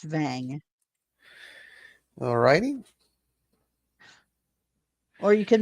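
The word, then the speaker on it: Wang: Dice Vang, W-A-N-G, but it's pronounced Vang.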